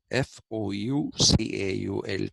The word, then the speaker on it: Foucault: Foucault is Michel, Michel, Foucault, okay, Foucault, Foucault, as Renault is Renault, the car. We say Renault, but it is Renault. That's a French pronunciation.